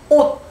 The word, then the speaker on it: 옷: 동료가 계속 연시켜서 미안한데 네가 좀 오늘 주인공인데 자, 옷 발음해보세요. 시작. 옷. 옷 이렇게 발음이 됩니다. 그래서 뭐예요? 시옷이든 쌍시옷이든 지읒이든 치읒이든 티읒이든 피읍은 뭐로? 디귿으로 발음이 됩니다.